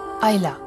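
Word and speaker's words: Islay: très loin de l'Irlande son nom se prononce hayla un nom de légende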